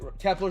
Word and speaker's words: Kepler: Kepler. Sorry. Kepler. Kepler. That's right. Kepler is the right way to say it.